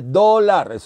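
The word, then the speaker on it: dollar: inglés la palabra dólar usted no dice dólares o está españolizado usted dice dólar dólar es una o con la boca abierta eso es una y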